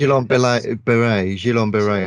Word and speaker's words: Guillain-Barré: Guillain-Barré, I think it's pronounced.